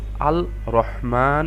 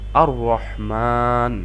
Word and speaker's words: আর রহমান: আমরা লামটা দেখতে পাচ্ছি এটা উচ্চারিত হচ্ছে না উচ্চারণের সময় তাহলে আমরা এর জন্য লামটাকে স্কিপ করে আমরা মোটেও আল রহমান এভাবে না পড়ে আমরা পড়ছি আর রহমান আশা করি বুঝতে পেরেছেন